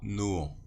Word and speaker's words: Nohant: Que j'avais subie à Nohant.